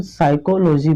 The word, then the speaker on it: psychology: ठीक है, जैसे PSYCHOLOGY, देखिए इसको हम साइकोलॉजी पढ़ेंगे। क्या पढ़ेंगे, साइकोलॉजी। देखिए साइकोलॉजी थोड़ा नहीं पढ़ेंगे, इसको हम साइकोलॉजी, यानी कि पी आपका क्या है, साइलेंट है, इसको हम साइकोलॉजी पढ़ते हैं।